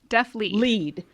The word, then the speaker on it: DeafLEAD: And I want to make sure that I'm saying the name right, because I pronounced it wrong. It's DeafLEAD.